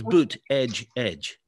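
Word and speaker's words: Buttigieg: had to learn yes it's it's boot edge edge that's how you remember it you know how you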